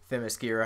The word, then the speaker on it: Themyscira: Like, yeah, I didn't even know how to say it until I actually heard in the Wonder Woman show somebody say Themyscira.